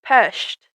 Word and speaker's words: Budapest: She said she says peshed. Yeah. And Clint says pest.